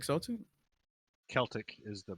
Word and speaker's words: Celtic: Yeah, I see, guess they we'll still go got to the Celtic, Irish. The mythology. Celtic. Yep. Could also So go to yeah. China Isn't as that the same well. thing? It's either Celtic Celtic.